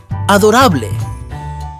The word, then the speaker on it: adorable: adorable in Spanish is Adora be careful they are spelled the same but pronounced differently we draw its wings